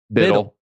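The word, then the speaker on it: BUIDL: Biddle or Boodle? Or it's Biddle. Boodle. Well, so it's hold, and we say HODL. So Biddle. It's got to be Biddle.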